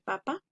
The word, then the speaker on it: papa: En la palabra papa es en la primera sílaba pa.